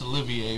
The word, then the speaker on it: Olivier: the boys from brazil which i mispronounced his last name because i didn't know it was pronounced olivier i mean i'm just